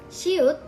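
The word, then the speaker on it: 시옷: Shiut, pronounced as s, it is similar to the English s but becomes sh before some vowels, which are e, ya,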